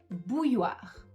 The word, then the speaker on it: bouilloire: Une bouilloire. Une bouilloire. Pareil, c'est un petit peu difficile puisqu'on a le o i et ensuite on a les deux qui rendent ce mot un peu difficile à prononcer.